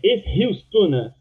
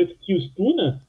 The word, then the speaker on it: Eskilstuna: Você falou que a pronúncia correta é Eskilstuna City, mas você mesmo não pronunciou Eskilstuna, evidentemente, porque a grafia é com K, né?